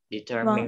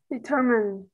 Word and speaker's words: determine: Trọng âm 2 và âm cuối là E. Ủa, âm cuối là âm E ngắn mà đúng không? Determine. Vâng, đúng rồi. Determine.